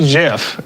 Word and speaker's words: GIF: most effective as a community how do you pronounce g-i-f well would i it used to be jif it was it was jiff for so long it was jiff for so